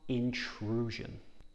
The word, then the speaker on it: intrusion: rizgar on facebook intrusion this word has s i o n so it makes a z sound in true a lot of words in english have this jean sound so really practice it in true and this